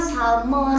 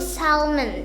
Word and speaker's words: salmon: Kalau kita baca tuh kayak oh ini mah salmon, tapi Karena- sebenarnya dibaca apa Hayu? Dibacanya itu salmon. Iya. Salmon, bukan Salmon. salmon.